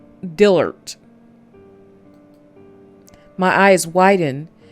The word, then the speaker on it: Dillert: How do you pronounce that? D-I-L Dillert. Dillert.